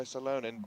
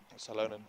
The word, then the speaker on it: Salonen: Salonen. In Finland, you'd pronounce Salonen. it Salonen.